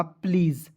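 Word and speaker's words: please: और SE का उच्चारण कभी-कभी ज़ के रूप में भी करते हैं, हो जाएगा प्लीज़।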